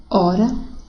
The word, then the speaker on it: hora: Porque a letra H não tem som, não é verdade? Então, seria emitido dessa forma: haver, herói, hino, hora, humor.